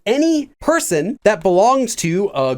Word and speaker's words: 의: Let me give you an example. Again, the way this works is like the possessive marker 의, which is pronounced as a when it's used as the possessive marker.